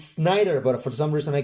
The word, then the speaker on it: Snider: watched it how angry everyone gets that d schneider d snyder schneider it's snyder but for some reason i can't help pronouncing pronouncing schneider s c h e a